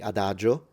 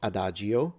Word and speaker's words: adagio: So similarly, there is an I in Boccaccio, but we don't say Boccaccio, just like we say adagio, not adagio, Giovanni, not Giovanni. Those I in Italian Not pronounced.